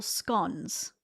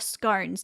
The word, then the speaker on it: scone: And what Americans call biscuits, we call scones. Or scones, depending on what part of Australia you're from, because sometimes it's the different pronunciation.